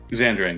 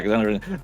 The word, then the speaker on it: Xandering: first dungeon, you will hear that the term Xandering. Am I correctly pronouncing it? Xandering, yeah. Yeah, Xandering.